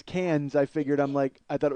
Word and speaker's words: Cannes: So you mean like the Cannes Film Festival? He got Best Oh, Director. well, you don't pronounce the S, first of all, and second of all.